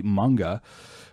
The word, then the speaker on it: manga: found out recently that i've been pronouncing the word for japanese comic books which is apparently supposed to be manga the wrong way for a long long